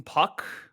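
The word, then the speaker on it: Puk: with Perez on the mound against is it Puck is that you pronounce his last name yes yes and I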